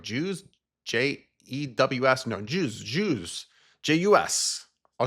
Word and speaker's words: jus: I always say it like that, and everyone's like, Jews?